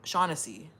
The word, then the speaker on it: Shaughnessy: Real name pronounced Sha Shaughnessy. Like Hennessy. Shaughnessy.